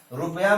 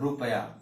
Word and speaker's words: रूप: जब इसका उच्चारण आप करेंगे तो स्पष्ट है कि आपका ओष्ठ आगे निकल जाएगा, रूप। आप देखिए अंतर हो रहा है, रूप, और ये क्या है, रुपया।